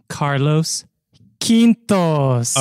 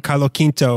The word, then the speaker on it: Carlos Quinto: time and pronounced it in a very fluid Spanish speaking way of Carlo Carlo Quinto or like yeah it